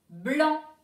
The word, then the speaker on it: blanc: Blanc. Blanc, la couleur. Blanc. Alors, dans blanc, attention, il y a un C muet à la fin.